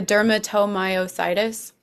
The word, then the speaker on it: dermatomyositis: The dermatomyositis. Dermatomyositis. Dermatomyositis. Oh my. Meadow, Dermatomyositis. meadomyositis. Dermatomyositis. The only reason I know it is because my sister had it. Meadomyositis. That's why. Yeah. Okay. Dermatomyositis.